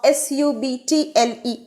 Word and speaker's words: subtle: very obvious or apparent so the b is silent here and the stress is on syllable sir so the correct ipa based pronunciation of s-u-b-t-l-e is subtle let us look at